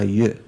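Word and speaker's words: ཡོད: So you'd say Y-O-D, but you don't pronounce the D at the end. Okay, Yo.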